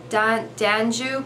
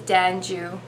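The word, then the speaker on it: d'Anjou: bartlett pairs they're also danju pairs i'm not sure how to say it i think it's dan joo d-a-n-j-o-u then there's also asian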